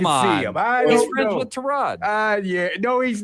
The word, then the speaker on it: Tyrod: I'll say it right. Tyrod Taylor. Tyrod. It's Tyrod. Tyrod Taylor. He said Baker Mayfield says that it's Tyrod Taylor, and I believe him.